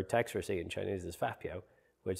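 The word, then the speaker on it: 发票: And the way they pronounce it is fa piao, fa piao. They say it quite aggressively.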